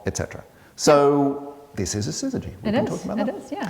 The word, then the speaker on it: syzygy: And this is a syzygy, as you say. Yeah, a syzygy, the name of our podcast.